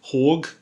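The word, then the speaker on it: HÅG: this is a hog hog as it would be pronounced capisco pulse that's their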